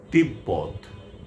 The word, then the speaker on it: তিব্বত: যদি ব অথবা ম এর সঙ্গে বফলা যুক্ত হয় তাহলে সে বফলার উচ্চারণ অবিকৃত থাকবে।